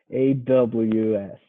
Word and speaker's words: AWS: So the emphasis is on the first syllable. W. W. I thought you were writing Diabo. No, I'm not. AWS. AWS.